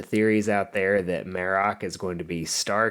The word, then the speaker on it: Marrok: Number 7, Marok speaks. So we've all been saying his name wrong for the most part. We finally got some clarification on that. It's Marok, and he actually spoke a few times in the episode.